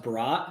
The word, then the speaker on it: Brodt: how everybody says it it's actually pronounced bra but everybody says bro so ah okay so